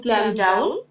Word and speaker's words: calm: In a stressful situation, I always try to calm down and Calm down. chill, এটা because calm না. calm down, Lটা উচ্চারণ হবে না.